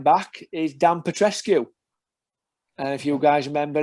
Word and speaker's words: Petrescu: It's spelled Pet Rescue.